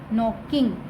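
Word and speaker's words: knocking: के एन ओ सी के नॉक, आई एन जी इंग नॉकिंग। यहाँ पे नॉकिंग में जो के है वो साइलेंट है, इसकी साउंड नहीं आती।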